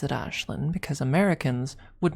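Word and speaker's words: Ashlyn: And I pronounce it Ashlin because Americans would not be able to pronounce uh the actual name if they read it.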